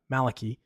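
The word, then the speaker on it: Malachy: to a saint uh Malaki or Malachi I think is the better way to pronounce it we'll talk about that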